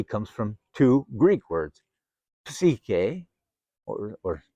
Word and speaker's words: psyche: Psychology comes from two Greek words, psyche or psyche, and logos. Psyche or psyche in Greek, it's pronounced with the P, is literally translated in Greek.